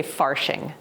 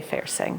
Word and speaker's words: Fairsing: I think they would say faring but we say fiercing.